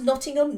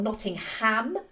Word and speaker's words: Nottingham: say Nottingham um because Americans emphasize the ham in these towns and cities and uh no it's